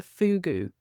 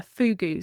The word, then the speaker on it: fogou: on the land there was something called a fogou. And it only exists in Cornwall, a fogou.